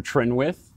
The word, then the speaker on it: Trinwith: take it away follow me at at Spencer trenwith that's both on Twitter Facebook and Instagram my